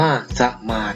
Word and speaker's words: สมาส: คำ สามารถ นะ ครับ อ้าว คำ นี้ อ่าน ว่า สมาส นะ ครับ นัก เรียน คำ สมาส